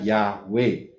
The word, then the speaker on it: Yahweh: Baca dari kanan, Yod, He, Waw, He. Bacanya Yahweh.